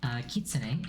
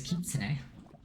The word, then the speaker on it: Kitsune: Kitsune is Japanese for fox. So you can't say that anymore. Also, a lot of people pronounce it Kitsun. It is not Kitsun, it is Kitsune.